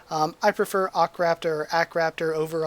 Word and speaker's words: Akraptor: it to akraptor again it's a long ah sort of sound so you could argue a h you could argue ar or you could argue just a um i prefer ocraft or ackraptor over r